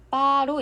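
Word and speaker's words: 八: 그러나 광둥에서는 병음 F가 B로 발음되어 빠로 읽힙니다.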